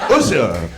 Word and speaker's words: Usha: Usha, like the singer.